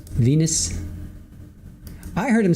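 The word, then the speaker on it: venous: It sound like they said Venus, but it's spelled V E N O U S. Venus.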